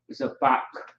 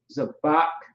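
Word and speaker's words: זבח: So zabak, zabak is how you pronounce that.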